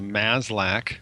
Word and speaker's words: Maslach: Burnout is actually a cluster of symptoms, and it's measured usually by something called the MASLAC, that's spelled M-A-S-L-A-C-H, MASLAC Burnout Inventory, named after a researcher named Christina Maslach, who started measuring burnout in people in the 1970s.